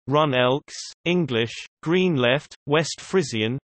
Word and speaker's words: GroenLinks: GroenLinks, Dutch pronunciation, Run Elks, English, Green Left, West Frisian, GroenLinks, GL, is a green political party in the Netherlands.